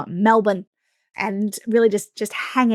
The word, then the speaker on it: Melbourne: We we pronounce it Melbourne, by the way. Like, I know that it sounds like there should be an A in there, but it's not. And often we hear people like Melbourne.